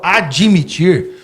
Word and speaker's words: admitir: A maneira correta de pronúncia é com o D mudo mesmo.